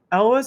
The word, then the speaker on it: Elwes: literally just looked it up I think it's Elwes Elvis okay Elvis I think I think it's like Elvis but Elvis oh okay okay I always said Yules but that's not a I think it's it's Elwes I think okay yeah I mean that probably